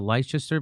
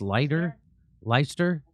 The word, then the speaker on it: Leicester: So the I forget how do they pronounce I thought it was called the Leicester, but I think it's just Leicester.